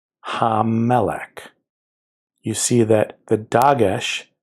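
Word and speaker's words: המלך: So ha, plus the first mem, then the next mem, melech. I'm exaggerating the pronunciation, you barely hear it. Ha-melech, ha-melech.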